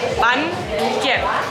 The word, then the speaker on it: Bánh kẹp: Bánh kẹp. Exactly. Till now, I gotta see, you know, you pronounce, you know, this word exactly.